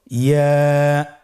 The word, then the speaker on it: ইয়া: আবার বলুন ইয়া। ইয়ার মাখরাজ কোন জায়গা থেকে উচ্চারিত হয়? ইয়া উচ্চারিত হয় জিহ্বার মধ্যখান তার বরাবর উপরে তালুর সঙ্গে লাগিয়ে উচ্চারিত হয়।